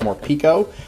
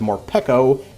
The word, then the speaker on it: Morpeko: the last opening video i thought that this pronunciation was more pico but it makes a lot more sense because more pekko and peckish go a lot more hand in hand so i will admit when i am wrong and i think i am wrong on that one so morpeko for once